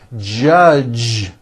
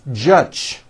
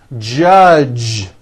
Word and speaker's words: judge: the word judge as judge turning that last sound into an unvoiced CH Jud and that is not right the J sound in American English is always voiced J J judge like that for you